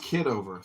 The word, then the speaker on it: Kitover: It's pronounced kiddover.